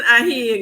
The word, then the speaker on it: Ahi: at you, Senator Ahi. Have I been pronouncing that correctly? Yes, Ahi. Got it right. Ahi, yes. I tell people I am a she who is a he.